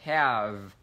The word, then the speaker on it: have: Thứ nhất là cái từ have, chúng ta kéo dài, have, đúng nhỉ? Âm vi nhẹ nhàng, have.